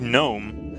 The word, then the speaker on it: gnome: than genome no it it sounds like gnome it doesn't gnome s gnomes there's no hard G in Gnome gnome is a soft